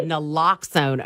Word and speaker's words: naloxone: I believe, is that how you pronounce it? Is it Naloxone? Naloxone. Yeah, Naloxone.